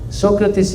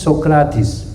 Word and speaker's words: Socrates: Swami said to an interview Socrates is not the right pronunciation. The right pronunciation is Socrates.